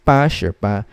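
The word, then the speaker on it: 八十八: then eight so it's pa sure 88 is pa surpa as easy as that okay now one last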